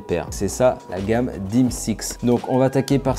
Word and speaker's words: D/MS/X: Et sur le dessus, on voit les lettres DMSX qui se prononcent DIMSX.